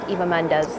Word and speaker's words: Eva Mendes: you I hope you get that date with Eva Mendes that's how you properly pronounce her name she has her hand on